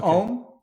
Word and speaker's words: Om: Om is composed of 3 syllables, ah, oo, and Okay.